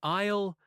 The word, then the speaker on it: aisle: An aisle. Let me spell that for you.